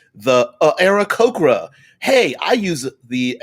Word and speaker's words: Aarakocra: The Aarakocras, because I like to pronounce the 2 A's significantly. The Aarakocra. Hey, I use the Aarakocra in my game in this way.